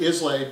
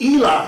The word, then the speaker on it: Islay: abandoned cottage from isla i spell that out because you would normally pronounce that islay but as i was informed by a very large scotsman when i was there it's called ila sunny so it's ila not islay it's one of the